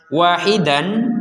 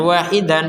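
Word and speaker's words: واحدا: berhenti ketentuannya tadi ya kalau kita berhenti di ilaha ilahan menjadi ilaha wahidan ya perhatikan wahidan menjadi Wahida Kenapa karena berhenti kalau dilanjutkan kepada Berikutnya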